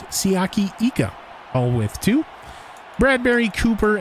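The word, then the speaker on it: Siaki Ika: Queen lenroy Harrison Phillips siaki eco we've been saying his name wrong for the first two games siyaki Ika all with two Bradberry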